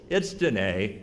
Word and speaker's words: Danae: was saying to myself, that's not the way that her name is pronounced. I talked about Danny Bustos. It's Danae.